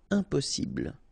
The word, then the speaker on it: impossible: Impossible. Don't insist on the final E. Impossible.